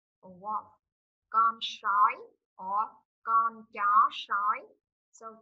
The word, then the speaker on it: sói: Con sói.